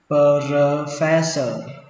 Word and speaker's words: professor: Giáo sư đọc là professor professor professor. Các bạn cứ tưởng tượng ở đây có một âm sờ thôi, phe cho đến sờ luôn, professor professor.